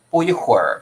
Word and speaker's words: 不一会儿: 它的这个基本上我们习惯的念是不一会儿，对不对？